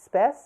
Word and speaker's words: Spes: of the Temple of spies I.E spies spe pronounced spess as in spies was the goddess of Hope